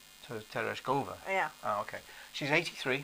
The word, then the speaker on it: Tereshkova: put the accent on the third syllable. So Tereshkova.